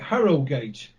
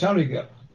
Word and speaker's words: Harrogate: and that's Harrogate, and they pronounce it Harrogate. But as far as I'm concerned, it's Harrogate.